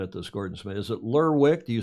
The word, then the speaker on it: Lerwick: Yeah, it's Lerwick. Lerwick. Okay, so the W is pronounced. It's Lerwick.